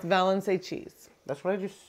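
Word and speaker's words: Valençay: Murray's in the Murray's Cheese caves balancer it's pronounced valency cheese that's what I just said do you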